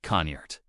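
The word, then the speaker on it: cniht: In old English, the word was ciette pronounced roughly like conert.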